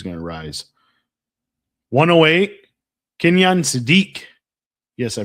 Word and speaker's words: Sadiq: 108, Kenyon Sadiq. Yes, I pronounced it finally right.